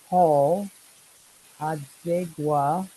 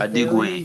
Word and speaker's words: Adigwe: So, ladies and gentlemen, we've been talking with Paul Adigwa. I am trying to say his name correctly. He's a Adigwe, very, Adigwe.